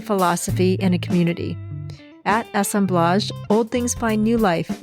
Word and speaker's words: assemblage: would start by saying assemblage it's a pronunciation of the French way I think um aome BL